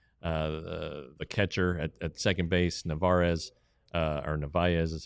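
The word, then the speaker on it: Narváez: Then he played the hop perfectly and got the catcher at second base, Narvaez is how it's pronounced.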